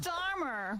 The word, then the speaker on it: Keir Starmer: Keir Starmer.